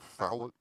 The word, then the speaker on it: Fallot: Is that tetralogy of Fallot? How's that pronounced? Fallot. Fallot? It's French.